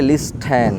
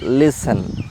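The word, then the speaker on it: listen: তারপর এল আই এস টি ই এন অনেকে বলে লিস্টেন বাট এটা হবে লিসেন লিসেন আরেকটা হল সি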